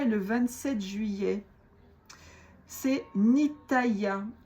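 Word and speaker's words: Nithaiah: C'est Nitaya. N I t h a I a h. Pas facile à prononcer.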